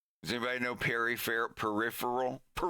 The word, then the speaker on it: Perry Farrell: Peripheral. It's pronounced peripheral. It's not peripheral or peripheral. That's one I hear the most.